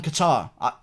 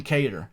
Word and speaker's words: Kattar: Byron out of Calvin Qatar it's not Calvin cater okay I don't know why